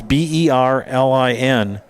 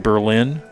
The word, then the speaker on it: Berlin: And the uh city around Milwaukee, one of the suburbs, B E R L I N. People are used to saying Berlin. It's actually pronounced Berlin.